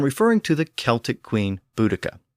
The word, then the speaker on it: Boudica: And I'm referring to the Celtic queen Boudica, or as she's sometimes called, Boudicca.